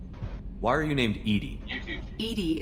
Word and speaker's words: EDI: are you named edie edie is the phonetic pronunciation of edi that is an acronym for enhancement what do you